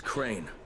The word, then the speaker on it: Crane: no my name is crane okay crane rhymes with train and brain and sane and grey and rain and plain and the other kind of plane and and can I